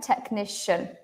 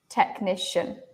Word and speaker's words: technician: Like this is a K. Why? Because it's from Greek. And this is a S. Why? Because it's next to an I. Yeah, technician, technician.